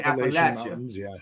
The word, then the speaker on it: Appalachia: how you say it Appalachia yeah that's what I want to know how do you say it the people who live there say Appia oh well you know